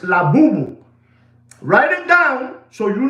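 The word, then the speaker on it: Labubu: And the new toy, write it down, is called La Boo-Boo. La Boo-Boo. You want me to spell it for you?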